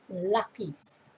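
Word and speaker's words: lápiz: if not more and notice where the accent is so it's not lapis it's lapis but stress is on the first syllable lapis and then they might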